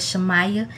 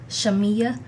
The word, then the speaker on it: Shamea: of her name because I would have said shamaya but it's actually pronounced shamea so thank you mr